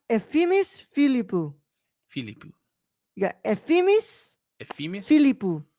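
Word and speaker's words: Efthimis Filippou: So it's pronounced Ephemis Philippou.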